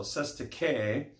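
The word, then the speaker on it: cestui que: 2 is pronounced sete with an accent on the first syllable k is pronounced key so says to k and the trust is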